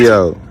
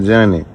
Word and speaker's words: Gio: Gio. Not Johnny.